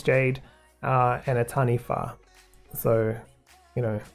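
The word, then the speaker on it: taniwha: But overall, it's jade uh and a tanifa. So, you know, even though it looks like taniwa, it's actually tani fa. Wh in moldi is always an f sound.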